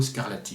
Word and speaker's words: Scarlatti: 5e c'est euh scarlati Dominico scarlati pour le prononcer à la française donc je redis François